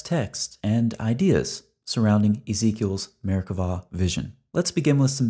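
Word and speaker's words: Merkavah: see by the way Hebrew grammar requires pronouncing the B as a V so we say Merkava we're going to approach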